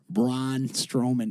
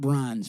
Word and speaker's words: Braun Strowman: Lesnar punches braun strowman braun strowman is is spelled exactly how it sounds braun strowman not bronze braun thank you autocorrect video